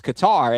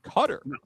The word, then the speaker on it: Qatar: The emphasis here is on the first slab uh yeah that that's cutter whereas and I always thought it was Qatar and then people are like oh it's it's cutter.